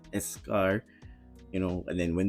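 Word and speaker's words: eschar: I've had um blisters I had escar that's how it's pronounced escar you know and then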